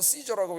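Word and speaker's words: Caesar: 그 로마인 이야기 나오면 캐사르 뛰죠 영어로는 c조라고 읽는데이 캐사를 유명한 사람이잖아요 로마를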